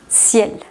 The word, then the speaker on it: ciel: final u otras palabras en las que se pronuncie la consonante final. Soif, ciel.